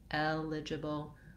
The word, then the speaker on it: eligible: itself break it down and then add your stress first syllable eligible knowledgeable when i can say